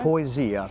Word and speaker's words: Poesia: We're talking about the Poesia because now he's going to Alaska, right? Right, but I think how do you pronounce it? Poesia? Poesia, that means a poet.